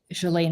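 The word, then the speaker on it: Ghislaine: And so she said that when she met Galain Maxwell, that's how you pronounce her first name.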